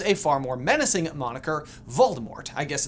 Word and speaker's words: Voldemort: common, and chose a far more menacing moniker, Voldemort. I guess it's technically supposed to be pronounced Voldemort, but whatevs.